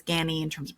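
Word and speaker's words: Ganni: of great contemporary designers gany it's not gnie it's gany in terms of pronunciation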